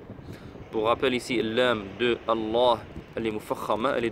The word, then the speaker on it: الله: Il faut savoir ici, il n'y a pas alif. Vous le voyez bien, on n'écrit pas alif au niveau du mot Allah. Mais on prolonge. C'est comme ça que ça se prononce en fait.